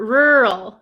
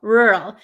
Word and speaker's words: rural: it very good okay it sounds like wall ah yes wall R rural rural except there's a instead of a w there's like an R right r r rur